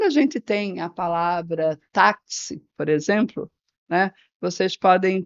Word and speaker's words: táxi: a gente sabe que esse táxi a gente pode representar esse som do X né como k s então nós teríamos quatro letras mas teríamos cinco fonemas né então quatro letras e cinco fonemas a palavra Ora por